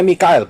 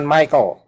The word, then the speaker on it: Mikael: raja-raja Persib karena itu Mikael bacanya Mikail bukan Michael salah Michael Mikael ya mikaelnya